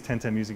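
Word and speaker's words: 1010music: later I mean so the company name is 10/10 music it's meant to be a hybrid name of like a weird number of numerical digital thing 10/10 music which is spelled one zero one zero music we have a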